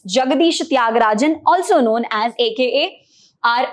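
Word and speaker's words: Jagadisa Thyagarajan: or little difficult to remember so let's just pronounce it again it's jagadishatyagarajan also known as AKA are Ashoka mithran let's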